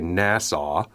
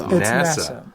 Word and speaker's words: Nassau: I always say Nassau, but you guys say NASA, right? It's NASA.